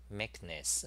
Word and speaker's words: Meknes: Meekness. Okay, I pronounce it right.